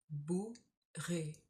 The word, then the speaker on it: bourru: Now, complexly, we have the oo sound and the u sound. Bourru.